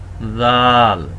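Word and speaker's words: ذال: দেখতে উপরে এক নুক্তা জাল জাল আমরা এর আগে শিখেছিলাম ফা দুই দাঁতের মাঝখানে জিহ্বাকে নিয়ে এসে যেভাবে উচ্চারণ করেছি ঠিক সেভাবেই জাল হবে একটু নরম দুই দাঁতের মাঝখানে জিহ্বা নিয়ে আসবো জাল জাল জাল একে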